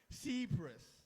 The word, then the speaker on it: Cephas: I googled, I say pronunciation, and I wrote it down. Cephas.